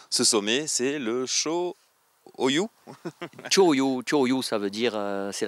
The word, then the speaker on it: Cho-Oyu: Alors, je vais essayer de me lancer dans la prononciation. Ce sommet, c'est le Cho-Oyu.